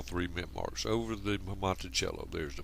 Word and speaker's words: Monticello: home the Monticello, and in fact this is the correct pronunciation for this word. It's just that in English we look at it and pronounce it as Monticello. But the term Monticello actually stands for, in